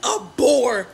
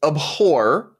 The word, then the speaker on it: abhor: want you to violently abore men you need to hate them like it's actually abhor is the correct pronunciation of that word but more importantly this